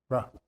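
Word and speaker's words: רוּחַ: Ruh.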